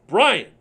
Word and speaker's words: Breon: It's pronounced Brian. It says Breon.